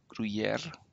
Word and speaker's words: Gruyere: can use the uh i think it's pronounced gruyere from the cheese um you can use